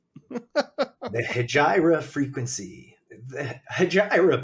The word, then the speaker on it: Hejira: pronounce the Hijra frequency hayra by the way is guys haira is a Joanie Mitchell song but it is also an Arabic word that means Exodus okay so it is The